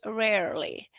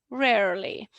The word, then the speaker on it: rarely: So there are two ways you can pronounce rarely in British English or in American English, in Irish English, rarely, rarely. So you kind of add this R, erotic R.